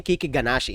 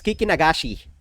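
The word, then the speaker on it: Kikinagashi: um Kiki Kiki nagashi I keep saying Kiki gashi it's Kiki nagashi okay kikin nagashi fucho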